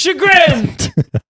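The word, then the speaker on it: chagrin: It's shagrin. Look it up. I don't know how to spell it, but it's Grin in there.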